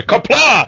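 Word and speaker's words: Qapla': Sua pronúncia tá errada, tá? É Kapla!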